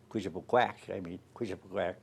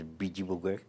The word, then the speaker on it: Bijibugek: Like when the first time I ever heard Bijibugek, which is Quishapuquack, the real pronunciation is Bijibugek.